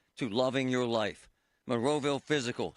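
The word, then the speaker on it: Fyzical: Monroeville Physical, spelled F-Y-Z-I-C-A-L, is spelled different, because they are different.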